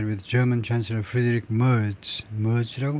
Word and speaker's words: Merz: Merz라고 발음하죠.